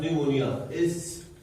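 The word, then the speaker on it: pneumonia: Example लिखा है Streptococcus न्यूमोनिया, यहाँ जो पी साइलेंट होता है, न्यूमोनिया में पी साइलेंट होता है, न्यूमोनिया, ठीक है।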